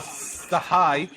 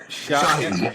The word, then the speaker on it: Shahi: Also, I think it's pronounced Sarah Sahi, by the way. It's Shahi. Yeah, Shahi.